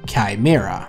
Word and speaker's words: Chimera: So this guy, named .com461, shared information about a tag Valve likes to use for their weapon cases called Chimera. Yes, that's how you pronounce it.